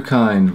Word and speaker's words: Kind: Andrew Kind. Rhymes with mind.